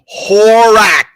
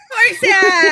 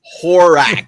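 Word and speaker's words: Horach: Horak. Horsack! There's no Horse? sack. There's no sack. There's no horse. It's Horak. Oh. It's not French. It's Why? it's two syllables.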